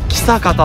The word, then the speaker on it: 象潟: 読むか分かりますかそう方これで草方って読むんですそうこの道の